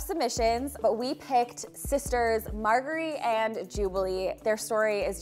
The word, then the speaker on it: Margaree: someone actually corrected me it's margar not margerie so margary I know